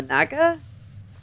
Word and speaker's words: naga: If it's acid, she spits on it and throws it cuz she's a a naga. That's how it's pronounced.